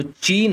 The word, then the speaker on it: Qin: पर आज का जो चीन है उसका नाम क्या पड़ा चीन या चाइना तो जैसे लिखा तो ऐसे जाता है क्यू आई एन लेकिन इसे प्रोनाउंस किया जाता है चिन ठीक है चिन तो